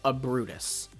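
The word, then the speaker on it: Ubrootus: from is first off we'd spell it with a u not an a. So u b r o o t u s. And the U there kind of makes it sound similar to uproot because this Pokemon has uprooted, right?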